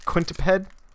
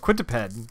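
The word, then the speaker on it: Quintaped: referees are rare uh quint quintip head oh quintiped okay that makes more sense i'm putting the the syllables in the wrong place yeah is scabber so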